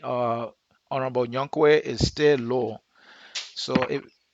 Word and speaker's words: Younquoi: It's Younquoi, not Nyankwe.